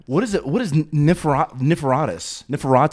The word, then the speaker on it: Niforatos: This is Niforatos. How would you pronounce it specifically? You just say Niforatos.